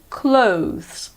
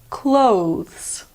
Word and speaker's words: clothes: American pronunciation is similar it's just the Oh sound that changes British pronunciation clothes American pronunciation clothes word number three is